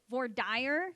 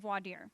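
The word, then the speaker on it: voir dire: You pronounce it vory. You do not pronounce it vadier.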